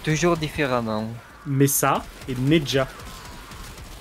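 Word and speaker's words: Nezha: Table basse le prononce toujours différemment. Mesa et Neja. Neza.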